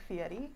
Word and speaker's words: Fieri: theory full fury actually guy fury pronounces his name differently but if i try it might be it might be more defensive yeah exactly yeah right it's more like authentically pronounced like fiery yeah yeah yeah yeah